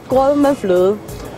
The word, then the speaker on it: grød med fløde: It's grød med fløde.